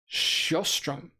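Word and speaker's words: Sjöström: So it's pronounced Sjostrom. Sjostrom. See, that's what I used to say, but then I was like, maybe I should hit the hard J. Maybe I don't, I was hitting the S, but I guess I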